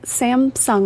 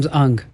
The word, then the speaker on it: Samsung: And I can't figure out like how are people saying Sam Samsung wrong? Sam's Sam Samsung. Samsung. Samsung. Okay. So, the wrong empastasis on the wrong syllable.